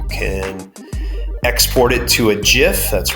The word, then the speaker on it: gif: you those you can export it to a gif that's right kids it's pronounced gif look it up so you could